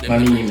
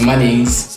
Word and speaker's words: Ma'neen: Actually, so my real name is spelled Ma'nnin, but pronounced Ma'neen, and all through high school, people used to call me Ma'neens, Ma'neeny, just because of how it look.